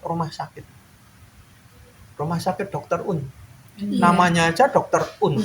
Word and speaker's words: Oen: Tulisannya itu kan OEN. Itu bacanya. Kalian kalau baca dimanapun kalau ada huruf OE itu bacanya U ya. Iya. Kadang-kadang orang penyiar TV aja kalau radio bacanya Owen gitu.